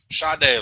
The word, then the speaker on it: Sade: Sade, like the singer.